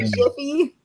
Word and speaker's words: GIF: But did you say Jiffy?